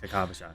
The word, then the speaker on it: Kakavasha: Kakavasha. Oh, that's how you pronounce it. Kakavasha.